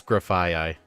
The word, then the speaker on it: Grafaiai: So, let's So, uh Okay, so I took a look at a video that I have bookmarked on how to pronounce every Pokemon name. It is Graphi.